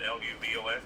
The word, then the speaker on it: Luvox: Therapeutic amounts of Luvox? Is that how you pronounce it? Luvox?